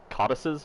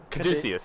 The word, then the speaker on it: caduceus: white, and he has two red, oh god, codices? Is that how you pronounce it? Well, It's I the don't know what medical that means. symbol. It's like the it's like the snake wrapping The around. Caduceus staff.